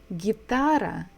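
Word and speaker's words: гитара: it is the same gitara gitara so that we stress the second syllable guitar so this is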